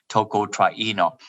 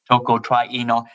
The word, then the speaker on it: tocotrienol: taste of define defining tocotrienol i did that for some right pronunciation is tocotrieno toco trino and it's very simple